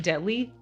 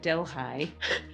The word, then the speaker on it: Delhi: York beautiful little town called delhigh which is spelled like Deli in India but I think some white people got confused so they call it delh high and I'm up here